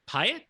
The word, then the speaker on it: Piatt: defending 106 pound champ colby mcbride from woodward academy um you've got aj piatt is that how you say it i do believe it is piya i do believe uh